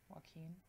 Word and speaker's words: Joaquin: Jack Quinn phoenixes Joker Joaquin Joaquin sure and look he needs to spell his name W a ke e m or some like that if he wants to pronounce correctly Joaquin sure yeah um